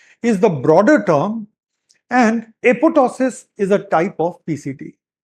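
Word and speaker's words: apoptosis: So apotosis and mind it the second P is silent.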